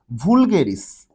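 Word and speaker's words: vulgaris: এই ভুল দিয়ে মনে রাখবো হচ্ছে আমরা হাইড্রা ভুলগেরিস। এটাকে তুমি ভুলগেরিসও বলতে পারো, ভালগেরিসও বলতে পারো, উচ্চারণের উপর আলাদা কোনো মার্ক নাই, জাস্ট মনে রাখার জন্য মনে রাখবা ভুলগেরিস বা ফালগেরিস।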